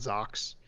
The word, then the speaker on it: Zaku: Zaku's they're you don't pronounce the U, so it's just they're called Zoks.